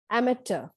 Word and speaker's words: amateur: in the list is amateur the british pronounce it as amateur and the americans pronounce it as amateur in both the stresses on the first syllable this means a person